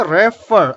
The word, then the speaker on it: refer: I will say refer. Again, two syllabic word, but the stress is on the last letter.